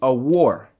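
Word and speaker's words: אור: So the way you say it is a war, which means illumination, or simply put, light, okay?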